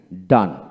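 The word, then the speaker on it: done: পড়বেন ওয়ার্ডের ওয়ার্ড বা শব্দের শেষে ই থাকলে ই এর উচ্চারণ সাধারণত হয় না লক্ষ্য করেন এখানে জি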